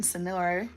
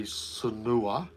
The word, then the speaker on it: Sanur: Someone said to me that Sanua is pronounced. Sanur. I know, I'm Oh. getting there. Is pronounced Sanur. Sanur, But with the tongue roll.